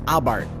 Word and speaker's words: Abarth: it's the Fiat 500 abart and just so we're clear it really is pronounced abart with the silent h but wait you ask